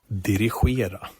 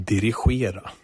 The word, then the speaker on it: Dirigera: I'm just going to play him saying it whenever I need to say the IKEA Dirigera Hub. What do you think of that? That's pretty good, I'm pretty sure it's pronounced dirigible.